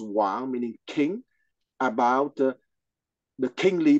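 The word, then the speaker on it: 王: And the character is pronounced Wang, meaning king, about the kingly person having finished his epistemological journey.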